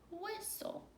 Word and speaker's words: whistle: accent on top and with T le the T is silent so it sounded out what it's so whistle hey number 18 do